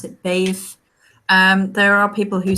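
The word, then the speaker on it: Badb: that's right um I I misplaced yeah so bathe is how i pronounce it bathe there are people who say that I say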